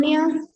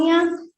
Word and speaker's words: pneumonia: Pneumonia. Pneumonia. Yes, good. Pneumonia. P akuren patan ganna. Api pneumonia kiyanne. Now that is pneumonia. P is silent.